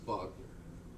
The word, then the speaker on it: Wagner: But the result is, you know, when you see Wagner, it's pronounced Wagner. Right? Wagen, your car, you know, is your Wagen, right?